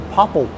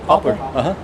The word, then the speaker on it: poplar: and introduced me to popple wood. Am I saying that right still? poplar. See, what, poplar? Yeah. See, I wasn't saying it right. There we go. It's popular without the U.